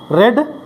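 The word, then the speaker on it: read: Spelling same but the pronunciation red, red.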